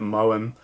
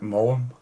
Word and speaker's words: Maugham: Anyway, so it tells the story of this famous writer, Willie Somerset Maugham, I think I pronounced that right, Maugham, who goes to stay with an old friend